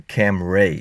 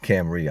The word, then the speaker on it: Camry: some reason he kept calling it the cam Ray instead of camri I don't know why but it took him like a decade to finally start saying it correctly anyway so as I